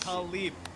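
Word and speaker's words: Tlaib: Let me help you pronounce it. Jenk Rashida Talib.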